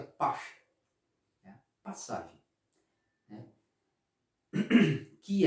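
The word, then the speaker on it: פסח: Em hebraico é pache, né? Se pronuncia pache, né?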